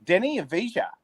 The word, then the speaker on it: Deni Avdija: Gradey Dick Gradey Dick Cam Whitmore Uh Deni Avdija Ooh. Good pronunciation.